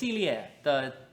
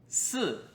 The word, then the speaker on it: 四: So when you say "four", make sure your tones are correct. "si4".